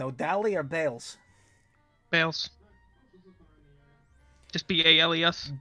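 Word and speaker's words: Bailes: Just B-A-L-E-S. B-A-L-E-S. B-A-I-L-E-S. B-A-I-L-E-S. Ah, okay, Bayless. It's pronounced Bales.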